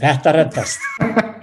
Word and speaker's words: Þetta reddast: So how do you pronounce it? Tetta redast, is it? Tetta redast.